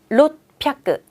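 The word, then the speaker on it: ろっぴゃく: 초금으로 바뀌면서 뒤에 발음 세져요. 600은 롯뼈끄.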